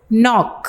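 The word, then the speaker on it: knock: है phone number HP नॉक ओं कि के साइलेंट है नॉक दस्तक जिसका मतलब है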